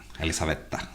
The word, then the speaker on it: Elisabeta: a la se enamor elisabeta antes a pronuncia mellor eh elizabeta yí cre que sobre